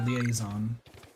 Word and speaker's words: liaison: all of these pokemon evolve all these oh liaison is how you pronounce that word by the way etsy